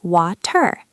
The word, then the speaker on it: water: So we don't say water. That takes too much effort. We say water, water. It sounds like W-A-D-E-R, water.